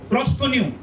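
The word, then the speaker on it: προσκυνέω: नियम में आते the word हैं, used is proskenu. जो शब्द नए नियम में इस्तेमाल हुआ है उसका मतलब है प्रोस्टेनु। That's how do you pronounce it? Proskonu.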